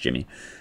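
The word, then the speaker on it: Yimmi: It's Y-I-M-M-I, but I think it's pronounced Jimmy.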